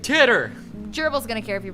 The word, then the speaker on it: Titor: heard about this before it's pronounced tighter i was talking about in terms of um lewdness oh yeah obviously yours is looter no tighter oh fair enough oh jon tighter tighter tighter tighter okay no i actually i think it is actually tighter it's tighter this is a name that's not japanese no one's gonna care if you pronounce it wrong i'm saying titter gerbil's